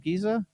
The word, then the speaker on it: Giza: great pyramids of giza is that how you pronounce it giza that's right how was that ron's like totally